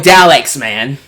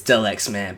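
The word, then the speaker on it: Delxman: children of all ages your boy D xman no I'm sorry sorry Mick I love you but it's Del x man but you know what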